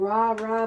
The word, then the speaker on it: Rah: shie Jessica Michelle and Rah pronounced like the sun god Rah happy birthday guys thank